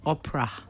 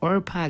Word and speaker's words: Orpah: her name is actually our path it's not Oprah Oprah or Pia but it was difficult to pray yes yeah it was always mispronounce so they stuck with the Opera everybody